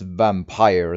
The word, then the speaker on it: Vampyr: It might be pronounced Vampire as well, but you know, when I say Vampyr, people tend to know what I'm talking, like which game I mean. So it should be fine, I hope.